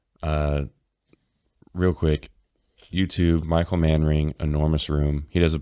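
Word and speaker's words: Manring: real quick YouTube Michael man ring enormous room he does a bunch of different Tunes like this and spelled like it sounds M A an r i n g um wicked wicked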